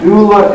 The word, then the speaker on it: doula: pick out a medulla a doula is a greek word meaning and it's and it's pronounced very differently it's i'm spelling a